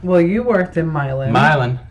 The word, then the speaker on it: Milan: Milan. It's spelled like Milan, but it's not said that way.